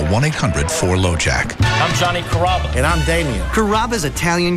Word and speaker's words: Carrabba: Growing up, people always had a hard time pronouncing my name. People chop it up pretty good. You know, Carrabba, Carababa, Caramba. It's a really easy name to pronounce. It's Carrabba. Come to Carrabba's for dinner.